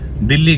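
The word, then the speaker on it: Dili: बाद बाली international airport से मेरी फ्लाइट है दिल्ली की जी हां आप लोग सोच रहे हो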